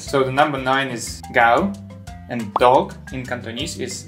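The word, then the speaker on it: 九: So the number nine is gao, and dog in Cantonese is gao too. Am I right? You're saying this very much. And if you slightly mispronounce it, you will swear in Cantonese.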